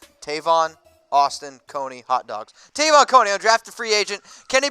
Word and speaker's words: Jadeveon Clowney: So they told me to say it like this, like Tavon Austin and Coney Island hot dog.